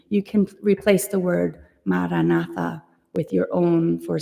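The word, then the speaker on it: Maranatha: silently begin to recite the word maratha Mar na say it with four equal syllables uming breathe normally and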